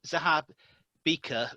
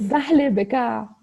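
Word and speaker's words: Zahlé Bekaa: It's great to welcome Karine from, I can never pronounce it, Zahab Bika Rotary Club in Lebanon. It's Zahle Beka. Zahab Bika. Zahle Beka, yeah, from Lebanon.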